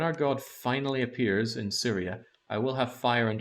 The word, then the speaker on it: Tsiria: I keep saying it as Tsiria. I'm pretty sure that the T is silent.